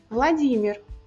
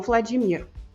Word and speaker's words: Владимир: Владимир, não Vladimir. Директор, não diretor.